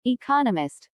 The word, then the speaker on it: economist: There are 4 syllables in economist, with the stress on the second syllable economist.